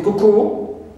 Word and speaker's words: cuckoo: Also the word cuckoo, the bird, okay, cuckoo, although it ends with o, but here we stress the first syllable and not the suffix coo.